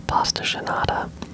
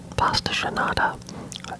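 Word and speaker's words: pastel de nata: pronounced different ways, but I think one way to say it is a pasta genada.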